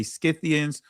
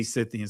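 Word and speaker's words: Scythians: I say two ways, but so because some will pronounce it with the SC or you know say Skyians, some would say Cythians.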